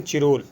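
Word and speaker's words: Chirol: तिलक के ऊपर London times के संवाददाता वैलेंटाइन चिरोल, इसे सिरोल भी कहते हैं, वो स्पेलिंग वो मिस्टेक,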